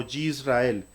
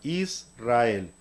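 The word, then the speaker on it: ישראל: Ahora, hay importante, la gente lo pronuncia como Yisrael, lo cual no es correcto. La yod siempre suena como i latina. Entonces, esta suena como i latina y esta suena como i latina. Ambas suenan como una sola i. Entonces se pronuncia como se lee en español, Israel.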